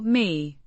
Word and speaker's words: мне: It's an adverb of time means to me or me pronounced with a soft sound and a slightly elongated y sound.